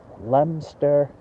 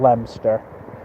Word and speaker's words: Leominster: pronounces their lemon start Leominster and England or the United States the out-of-town ease always call it leo Minster which is entirely wrong and I'm covering the